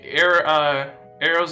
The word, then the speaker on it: Aero: I think Arrow's on there. Ariel. No, Arrow. AERO. And then Newers now. Two other people. Yeah. Wait, Arrow is on there.